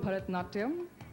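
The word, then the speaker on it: Bharatanatyam: Help me pronounce it and show us a few steps. Well, it's called Bharatnatyam.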